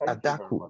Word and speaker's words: Adaku: Oh, it's Adaku. I was correct. Yes. Okay. Yeah. I thought it was another, maybe a French version, Adaku. No, it's an Igbo name, Adaku.